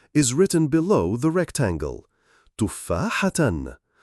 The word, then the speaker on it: تفاحة: The pronunciation of the word apple is written below the rectangle. Tufahatan, tufahatan, tufahatan.